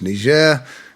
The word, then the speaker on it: Niger: obviously doesn't know that the nation of Niger more often pronounced Nazir is named after the